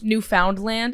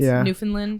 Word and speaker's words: Newfoundland: Also, you said Newfoundland. It's Newfoundland.